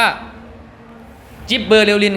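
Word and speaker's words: gibberellin: อัน แรก ก่อน ครับ อัน นี้ อ่าน ว่า จิ๊บ เบอร์ลิน ครับ ชื่อ ย่อ คือ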